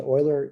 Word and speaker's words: Euler: all right i want to emphasize to you euler is spelled e u l e r but his